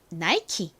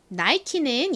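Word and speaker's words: Nike: 보통 잘 아실 텐데요 굉장히 유명한 브랜드이죠 뭔가요 나이키 이죠 나이키는 이렇게 앤 라고 적는데요 사실 보통의 영어식 발음을 적용을 하면 원래이 단어는 나키가 아니라 어떻게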